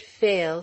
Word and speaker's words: Pfeil: She pronounced the word fail slowly. It was new to her. She had never seen it written. As it lingered on her lips, the Father, to whom also it was a new word, misunderstood it, took it to be in 2 syllables, and so wrote it.